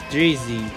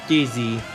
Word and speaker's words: Dizzy: The winner of this Reverses episode is none other than Drizzy, or Dizzy. Sorry, pronounced it wrong. The winner is Dizzy.